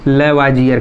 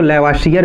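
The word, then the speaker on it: Lavoisier: कहीं कहीं पर इसको इसके प्रोनाउंसिएशन के अनुसार देखेंगे तो लेवासियर भी होता है, तो इसमें कंफ्यूज होने वाली बात नहीं है।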